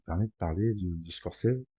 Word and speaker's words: Scorsese: de parler de de Scores. Alors je vais pas dire Scorisie, il y en a qui le prononcent comme ça. Moi, je le dis à ma façon.